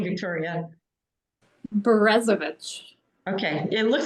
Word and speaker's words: Berezovich: Berezovich.